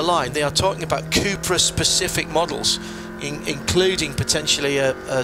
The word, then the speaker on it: Cupra: So all the Seat racing cars will be Cupra. You just have to be very careful how you say it, otherwise people think you're talking about 1950s Formula One cars. Cooper?